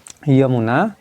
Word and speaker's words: यमुना: और जमुना नदी की लंबाई 1375 किलोमीटर, ठीक है। यमुना, उसी को ज से उच्चारण कभी कल हो जाता है।